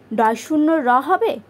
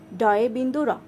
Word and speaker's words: ড়: উচ্চারণ হচ্ছে কি কি ডে বিন্দু র ড শূন্য র না না কারণ আমরা নিচে এরকম একটা শূন্য কখনো দেই না ড এর নিচে শূন্য নেই ড এর নিচে আছে কি বিন্দু তাই ড বিন্দুরা হবে